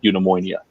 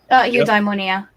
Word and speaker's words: eudaimonia: more is that people recognize the state of in ammonia if I'm pronouncing that right eudaimonia yeah thank you very much and in because